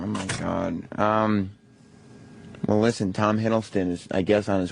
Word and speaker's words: Hiddleston: How do you pronounce his name? Hiddleston? Hiddleston.